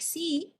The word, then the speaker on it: si: Si sounds like si in English, and ang has a nasalized sound with stress on the letter A, pronounced as ang.